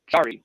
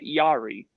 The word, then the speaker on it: Jarry: Which, by the way, Bugsy, it's Jarry with the J, not Yari.